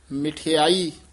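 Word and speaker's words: ਮਿਠਾਈ: आई उच्चारण करना है मम्मी द सिहारी भी ला के उच्चारण करना मठ बोल जा सहारी छ जा मिठाई बोलना है गुर पूरे हर प्रभ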